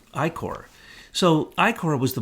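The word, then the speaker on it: ichor: this I see hor how do you pronounce that I Corre Corre like I Corps so i kora was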